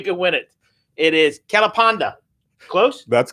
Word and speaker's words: Kelapanda: to win 50 dollars tell me how you pronounce his name and you can win it it is kalapanda close that's correct yeah correct yeah i win